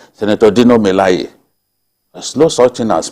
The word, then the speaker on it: Dino Melaye: The right pronunciation for his name is Dino Melaye.